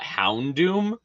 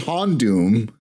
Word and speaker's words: Houndoom: I always thought it was Hondoom. I heard it from my cousin. Houndoom. It's a fucking hound.